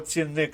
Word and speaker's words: цінник: цінник розпірка і косий слово цінник наголос падає на другий склад варіант в викреслили варіант